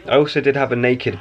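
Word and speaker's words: Nakd: I also did have a naked bar, you know, naked bar, like it's spelled N-A-K-D.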